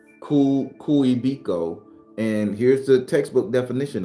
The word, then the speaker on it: Kuebiko: Kuebiki. Kuebiko. Kuebiko.